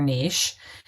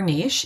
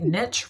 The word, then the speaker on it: niche: together make up your Niche I mean and you can say by the way Niche or Niche it's a personal preference I just think Niche rhymes with itch so I choose Niche just to go there